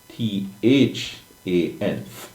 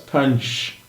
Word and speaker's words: tanh: I see where in a certain book, engineering mathematics book, they say it should be pronounced T-H-A-N with it th, just like how you say than, T-H, alright? Now, sometimes I refer to it as tanch, but anyway, the tanch or than of x.